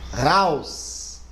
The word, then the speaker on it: raus: Raus, raus. Agora outra palavra, house. Olha, viu? Um é casa e o outro é fora. A única diferença é que eu pronunciei o R e o H.